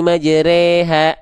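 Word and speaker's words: مجراها: Bismillah wa qala rkabu fiha bismillahi majreha. Itu memang vokal N, namanya imalah.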